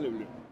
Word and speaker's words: Le Bleu: ¿Cómo se pronuncia le bleu?